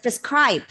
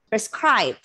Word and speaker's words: prescribe: be um stressed schwa in the unstressed syllable pronounce this word as prescribe prescribe okay you might have heard this word what